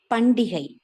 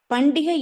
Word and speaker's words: பண்டிகை: பண்டிகை என்பதை சரியாக உச்சரிக்க வேண்டும் என்றால் பண்ட ஈகை என்பதே உண்மையில் சரியானது.